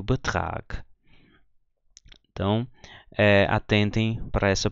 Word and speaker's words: Betrag: Então, G em final de palavra ou final de sílaba, a gente lê como se fosse um K, né? Então, eu leio aqui mag, aqui eu leio Sieg, aqui eu leio Betrag.